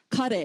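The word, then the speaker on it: ཀ: So for example, the Tibetan word for what is Kare, yeah. So that first ka is pronounced very similar to an English K, kare.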